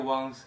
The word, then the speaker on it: Wang: But uh as time goes on, I suspect we'll have many real ones in Australia and probably around the world.